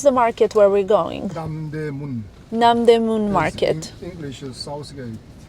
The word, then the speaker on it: Namdaemun: How do you pronounce the market where we're going? Namdaemun Market.